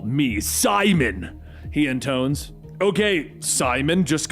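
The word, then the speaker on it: Psimon: Call me Simon, he intones. Okay, Simon, just calm down. No, it's Simon with a silent P.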